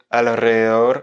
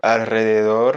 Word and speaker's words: alrededor: Donc là, ce qui va être difficile, c'est qu'il y a deux R et qu'il y a notamment LR, un L et un R qui se suivent et un R final et c'est vraiment pas facile à prononcer. Donc il faut dire alrededor, alrededor. Il faut arriver à mélanger à ce L qui est d'abord prononcé et enchaîner sur le R.